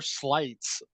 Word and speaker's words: Slights: Slights, and it's spelled like it sounds slight, like he's slighted.